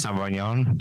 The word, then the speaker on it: Sauvignon: server at that restaurant, I'm like, hey, I'm pronouncing this wrong. The Cabernet Saint Blanc or something like that. Sauvignon.